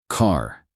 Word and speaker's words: car: Americans usually pronounce the R sound clearly.